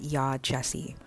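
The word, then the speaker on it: Yaa Gyasi: Okay, I just started the audiobook and her name is pronounced Ya Jessie, which I would never have gotten from the spelling.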